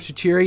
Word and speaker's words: Shaqiri: the know actually okay my pronunciation of Shaqiri is the best that's actually how you pronounce it that is real that is I'm being realistic on that one has to do with his nation of origin and everyone's why are